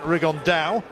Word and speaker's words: Rigondeaux: And Tete's talked about fighting Rigondeaux, or as he's correctly pronounced with the Spanish accent, Rigondeaux.